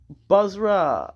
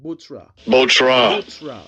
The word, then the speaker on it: Bozrah: Bozrah, let me get it.